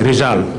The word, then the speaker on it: Rizal: Do I pronounce it right? Yes. Rizal.